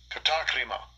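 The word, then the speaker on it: κατάκριμα: Let's see what condemnation in Greek, how you say it in Greek? Strong's G 2631, katakrima.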